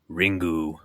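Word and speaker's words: リング: Ringu. But you have to say it like that.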